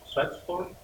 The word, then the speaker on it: Schaetzel: We have Tom Schaetzel. It rhymes with pretzel.